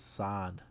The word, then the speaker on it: San: You can pronounce my name is San, though I don't mind any alter.